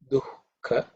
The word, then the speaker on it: dukkha: This is dukkha. This kha is the second one. Kha. Okay, a little bit of extra here. Sukha, dukkha. Okay. Dukkha. Second letter in the ka varga, which is aspirated.